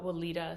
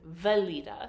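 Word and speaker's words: Weleda: both use it so he asked for the wiita skin food and she was looking at him she's like you know the one like with the green container she's like valita so we got in trouble for pronouncing it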